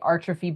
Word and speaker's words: Artrophy: So now we say Artrophy by Neil and Tracy because artists typically go by their first name and last name.